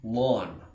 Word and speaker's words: ln: which means natural lock Ln of X is pronounced lawn of X like a green lawn of grass I'm going to continue